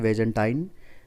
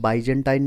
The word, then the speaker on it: बाइजेंटाइन: तो सबसे पहले हम शुरुआत करते हैं बैजेंटाइन शैली का इतिहास देखते हैं। देखिए, कई पुस्तकों में बाइजेंटाइन लिखा हुआ मिलेगा, कहीं बीजेंटाइन मिलेगा, कहीं बैजेंटाइन मिलेगा, तो अलग अलग प्रोनाउंसिएशन इसके होते हैं।